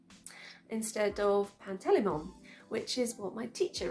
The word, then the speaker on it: Pantalaimon: I think I read Lyra's daemon's name, Pan, I read it as Pantalaimon, instead of Pantelimon, which is what my teacher read it as.